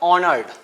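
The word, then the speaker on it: honoured: ऑनर्ड। तो आप यहां देखिए एच जो आप देख पा रहे हैं स्टूडेंट यहां जैसा कि आप एच देख पा रहे हैं। एच क्या है? यहां साइलेंट है।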